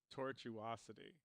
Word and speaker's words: tortuosity: the word you were having trouble with is pronounced tortuosity he spelled it out genetically for us thank